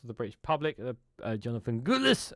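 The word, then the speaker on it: Gullis: Jonathan Gulis said in a statement to the broadcaster, I have to say it like that, G.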